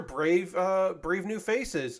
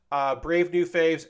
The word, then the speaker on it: Brave New Faves: Yes, those are Brave New Faces emotes, right? Yeah, faves, not faces.